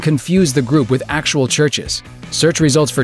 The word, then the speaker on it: Chvrches: We are a band called Churches. It's Churches. Just Churches. Double V equals W.